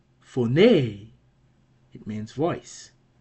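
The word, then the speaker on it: φωνή: Well, phone has four, nay, two syllables. And what else do we see? We see this acute accent here that tells us the last syllable is accented and should be therefore pronounced with a higher tone. So the pronunciation will be phone, phone.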